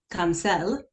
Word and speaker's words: Cancel: My husband's actually Hispanic, so it's pronounced Cancel, but it looks like cancel.